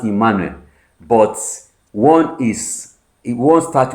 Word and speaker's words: Emmanuel: So both of them are pronounced Emanuel.